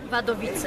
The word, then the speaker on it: Wadowice: É assim que se pronuncia? Wadowice.